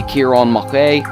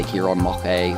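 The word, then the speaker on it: Kieron McKay: that's how you say kieron makay um or Kiron makay or however you want to pronounce it I usually say kieron Makai I pronounce it kind of more gaelicy but that's it that's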